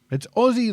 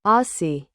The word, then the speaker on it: Aussie: It's Aussie like Aussie Osborne. But Americans say Aussie. It rhymes with saucy.